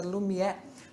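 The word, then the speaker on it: Lumière: os irmãos franceses os irmãos franceses lume Lumiere pronúncia Lumiere lançou o filme de uma hora o cinema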